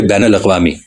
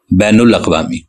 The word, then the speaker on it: بین الاقوامی: ہے۔ ایک لفظ ہے بین الاقوامی۔ اب بین کے نون پر زبر ہے، مگر اردو کے اکثر